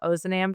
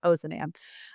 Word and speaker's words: Ozanam: too far into this, we have a very Midwestern pronunciation of Ozanam. So you'll hear me saying that a lot. Um, probably other folks from the society across the country and across the world would pronounce that differently, but we've really gotten in our habit here of saying Ozanam.